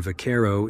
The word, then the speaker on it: vaquero: Because the V in vaquero is correctly pronounced as a B, it's not surprising that the Spanish word was easily mispronounced by those not well versed in Spanish.